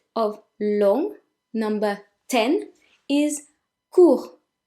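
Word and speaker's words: court: long number 10 is cool cool the T is silent coup which means short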